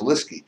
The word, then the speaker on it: Lieseke: spelled l i s e ke but it's pronounced lisky and Beth is Beth Zig now that name